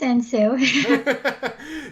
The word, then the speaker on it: 은수: welcome to the show hello my name is Anne su yeah I was telling you that we all